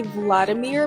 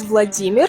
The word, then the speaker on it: Vladimir: or for short da also Vladimir you may think that sounds familiar because you've probably heard people say Vladimir before the original pronunciation of this name is Vladimir or for short vaa